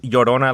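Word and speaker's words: Llorona: but like another thing is Lona which is pronounced yodona like yo like yo there's a ton a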